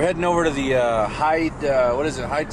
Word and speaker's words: Hyde: the little clue about Hyde being an appropriate name because it's h yde but it also is uh it rhymes with the word hide to hide like a cash and